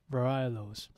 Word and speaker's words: varietals: I know of your past fondness for the German varietals. Varietals. Yes. American accent, you cannot pronounce the T.